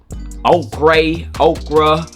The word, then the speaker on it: ochre: But yellow ochre is what I'm going with. Just like the food, yes, okra, yeah.